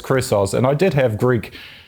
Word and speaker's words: Chrysos: We generally pronounce it Chrysos. It's a Greek word, and I'm sure any Greeks listening would complain about our pronunciation. Yeah. But yeah, we normally say Chrysos.